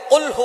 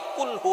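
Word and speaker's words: قُلْ هُوَ: আল্লাহ পাক রাব্বুল আলামীন এখানে বলছেন কুলহু আল্লাহু আহাদ। এখানে কফ দিয়ে পড়ছেন কিন্তু অনেকেই ভুল করে উচ্চারণ সঠিক না হওয়ার কারণে তারা পরে কাফ দিয়ে। কুলহু আল্লাহ।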